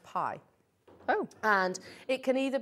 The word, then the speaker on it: bi: on the pi symbol it's actually spelt b-i yeah but it's pronounced pie oh and it can